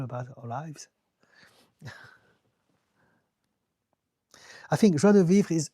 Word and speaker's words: joie de vivre: Joie de vivre. Thank you for pronouncing my profile name correctly. It's easy, I speak French. Joie de vivre.